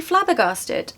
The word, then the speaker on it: flabbergasted: word to say but let's try and make it easy the first part stressed okay flab flab flabber